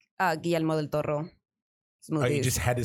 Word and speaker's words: Guillermo del Toro: for everyone that can't pronounce his name. You could say his name. Guillermo del Toro. There you go. Like that, Guillermo del Toro.